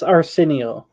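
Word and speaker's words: Arceneaux: Terrence Arsenio.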